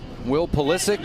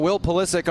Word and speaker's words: Pulisic: You got Will Pulisic on the Duke side, who opts to pronounce it a more Americanized way.